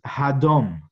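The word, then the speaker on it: הדום: the stool is hadon the place where i i place my feet is hadom and hadam sounds like the word dom which means to be silent in the face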